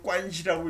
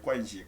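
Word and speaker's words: 关系: 중국 사람들 이걸 관시라고 읽어요. 관시. 관을 관이라고 읽고 개는 시. 관시다.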